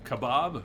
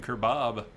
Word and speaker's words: kebab: Kebab, kebab, kebab, kebab, kebab. I don't think you're hearing kerbab. I don't think I'm saying kerbab.